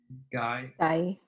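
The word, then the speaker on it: gai: Guy. Very good. Guy. Remember, G is always the girl g sound. It's not the j sound.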